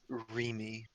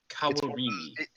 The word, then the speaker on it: Kawarimi: I mean, it's a pronunciation check. Kawarimi. Kawarimi.